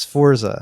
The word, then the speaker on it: Sforza: Okay, the family's name is spelled Sforza. Okay. Okay, so the S. Yeah, we're like missing some vowels. Sforza.